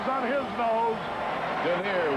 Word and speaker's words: Dernier: Look at Dernier run. Holy cow. I'd like to have $2 on his nose. Dernier, which rhymes with deer, means last in France.